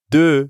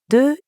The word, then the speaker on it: deux: De is actually spelled with a silent letter X at the end. But when we add a vowel sound after it, like in euro, we end up with a liaison that has a Z sound.